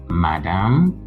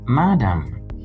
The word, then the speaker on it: madam: This is not madam, but madam. It is not madam, but madam. So it is stressed on the first syllable.